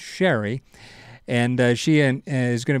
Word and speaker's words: Cherry Hill: You've probably seen her name and you don't realize it because you think it's pronounced Cherry Hill, but it's Sherry.